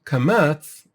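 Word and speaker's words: קמץ: So even the nikud, kamatz, which is pronounced as either u or o, is called this way because the lips become closed and condensed when you go or u, as opposed to patach,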